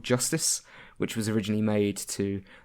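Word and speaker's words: Justis: but it's spelled j-us tis so they actually pronounce it is Justice um but then there's a there's a bit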